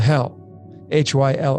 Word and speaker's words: Hyll: It's called hell, Hyll, if you pronounce it.